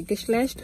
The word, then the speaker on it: Geschlecht: Geschlecht means gender. Am I pronouncing it the right way?